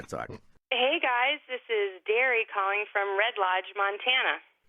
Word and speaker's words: Dari: This is Derry calling from Red Lodge, Montana. Derry? Derry, yep. How do you spell that?